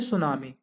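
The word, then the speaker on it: tsunami: देखिए, जब ओशियन में हाई वेव्स आती हैं, ठीक है, तो उसको बोलते हैं सुनामी। टी इसमें साइलेंट होता है, इसको क्या बोलते हैं, सुनामी बोलते हैं।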